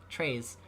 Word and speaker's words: Trej: Okay, his name is pronounced Trey and then Z, Treys.